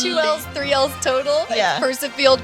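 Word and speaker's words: Percifield: Pursive field. P E R C I F I E L D field like a field and then uh I what would they get get confused with?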